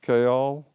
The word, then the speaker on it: Kayol: it yeah yeah so this one really does have two two syllables chaol it has some similarities